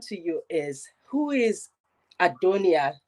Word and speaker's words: Adonia: So it's actually a Greek word that is pronounced Adonia, right?